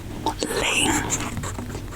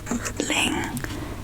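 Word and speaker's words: 林: And this one new character is called Ling. Ling. It's L-I-N. Ling.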